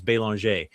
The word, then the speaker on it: Belanger: my last name is Belanger, but the the proper French pronunciation is Belanger.